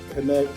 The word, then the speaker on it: KNKT: Okay, It's pronounced Connect.